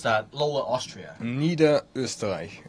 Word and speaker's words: Niederösterreich: And so how do you pronounce that Lower Austria? Niederösterreich.